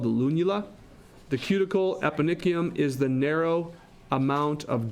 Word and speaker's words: eponychium: This is the eponychium, is how you pronounce that.